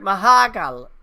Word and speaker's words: Mahakal: Yeah, Did you like Mahakal? That's how they pronounce it in the movie.